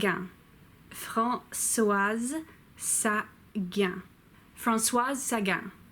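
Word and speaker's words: Françoise Sagan: sat yeah Francois Sagan it's very important that you say the S at the end of France was because that's what makes it a female name as opposed to the male named Francois she wrote Bonjour tristesse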